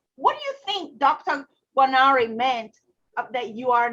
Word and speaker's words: Guarneri: Well, speaking of conviction, in the foreword of your book, you have a doctor, I don't want to say the name wrong, Guarneri? Guarneri, yes.